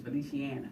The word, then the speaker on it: Feliciana: I think I was calling it Feliciana, I think, but it's Feliciana.